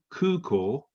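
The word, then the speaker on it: 空港: the pronunciation right so the ku ko is a double u and it's a double or so it's kuko yeah and the same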